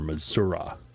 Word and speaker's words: Missouri: Louis Missouri or missourah as I've heard some people pronounce it which I don't know how you get the letter I to sound like ah if you can explain